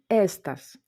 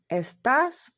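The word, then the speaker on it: estás: мали б читати естас, але так як ми чуємо естас, то ми ставимо графічний наголос.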